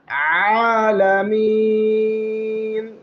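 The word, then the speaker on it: العالمين: আলহামদু আলহামদুলিল্লাহি রাব্বিল আলামিন এইযে কন্ঠনালীর মধ্যখান থেকে বলতে হবে আলামিন রাব্বিল আলামিন আলহামদুলিল্লাহি রাব্বিল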